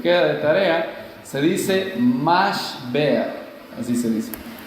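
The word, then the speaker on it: משבר: Si ustedes van a buscarlo, después les queda de tarea, se dice mashber, así se dice, mashber.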